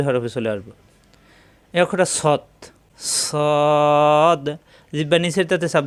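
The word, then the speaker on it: ص: হয় মাখরাজটা আগে শিখি সদ যখন আমরা শুধু সদ উচ্চারণ করব তখন জিহ্বা নিচের দাঁতে লাগবে ওখান থেকে আবার এসে উপরের দুই দাঁতের গোড়ায় লাগবে সদ সিন উচ্চারণ জিহ্বা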